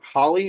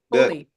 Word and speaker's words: Holi: Is it Holly or Holy? Holy.